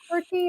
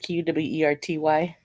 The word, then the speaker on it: QWERTY: QWERTY, or is that how you say that? QWERTY? Kapow! Oh wow, thank you. Very nice. QWERTY That's is the very first wow. keys of your keyboard. QWERTY.